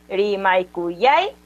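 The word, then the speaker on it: rimaykuyayki: la antepenúltima palabra, en la antepenúltima sílaba? Como eso, ¿no? Rimaikuyaiki. Es Rimaikuyaiki en la antepenúltima. Pero imagínense que Rimaikuyaiki no tenga la mayor fuerza de voz en la primera sílaba. ¿Cómo sería? Rimaikuyaiki, tai, tai. No sería la pronunciación correcta.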